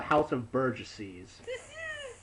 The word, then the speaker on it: House of Burgesses: is your fault and I think it's pronounced the House of Burgesses how did you treat